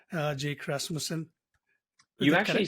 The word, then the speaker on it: Rasmussen: I hope I didn't butcher your last name, Jake Rasmussen. You actually said it perfectly. That was exactly it. It's a hard name to pronounce.